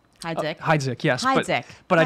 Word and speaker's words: Hydzik: find out that I met a very cool kid fresh off the boat from Poland, and he told me that my name should be pronounced Hydzik.